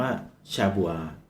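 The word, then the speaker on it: שבוע: คือ อะไร ครับ ใน ภาษา เดิม นะ ครับ อ่าน ว่า ชา บัว ซึ่ง แปล ว่า เจ็ด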